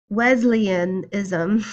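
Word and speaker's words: Wesleyanism: domination following the theology of John Wesley wasli Wesleyan ISM it was associated with the Methodist Church I was trying to pronounce it like it was some sort of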